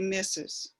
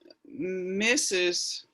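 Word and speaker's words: Mrs.: would be said well today they just say misses but missus this is actually what they say is mrs the pronunciation mrs is mises that's right in mr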